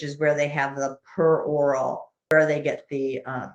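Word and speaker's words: peroral: i got it because i want to say perioral but that is of course the the mouth and it's per oral let me just like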